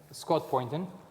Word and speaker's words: Scott Poynton: With me today I have Scott Poynton. Did I pronounce it right?